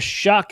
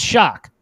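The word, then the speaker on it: Shough: It doesn't look like it, but apparently that's how it's pronounced.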